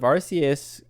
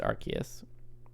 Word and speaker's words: Arceus: arceus i think it's arceus i think it's arceus with the hard c the hard c um